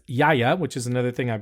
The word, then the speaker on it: Gaia: how you say it it looks like Gaia but the producer is Yaya which is another thing